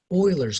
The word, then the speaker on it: Euler: anything, but the base e, and it's called Euler's constant, pronounced Euler, even though that's an e, but that's where the e comes from.